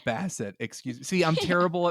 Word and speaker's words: Bassett: I said I almost said Basket. Yeah, Angela Bassett.